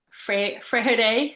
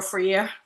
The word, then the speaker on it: Freire: My goat here, Paulo Freire, if you say it like that, or Freire.